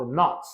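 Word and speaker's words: knot: It is tied up not 매듭에 묶여진 것처럼. Not는 매듭이죠. 매듭. K는 묵음입니다.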